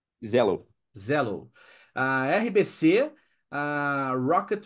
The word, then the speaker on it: Xello: a bmob no Brasil a Shell é shello que se fala Zello Zello a RBC a